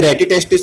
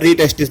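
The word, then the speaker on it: rete testis: इसे प्रोनाउंसिएशन में इसे रेटिटेस्टिस और रीटेस्टिस भी बोलते हैं.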